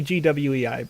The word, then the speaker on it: gwei: ethereum network right and what this shows is a number called guai right uh at least that's how i pronounce it it made it maybe gwei but i frequently call it guy and um what what